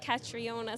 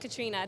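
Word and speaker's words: Catriona: a little bit so I get Katriona sometimes which isn't a million miles off but yeah just Katrina there's an O in there silent how are you what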